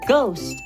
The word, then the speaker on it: ghost: In the word ghost, the H is not at the beginning of the word, but we still do not pronounce the H sound.